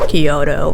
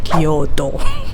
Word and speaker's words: Kyoto: Like, don't go with Kyoto, okay, it's Kyoto.